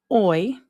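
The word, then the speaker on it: hoy: Oi oi is today. Remember we do not pronounce that H.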